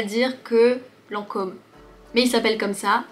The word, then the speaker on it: Lancôme: Ici, Lancôme, c'est uniquement pour faire un peu plus prestigieux, plus élégant. Il faut juste prononcer le O de façon plus ronde. Lancôme, Lancôme.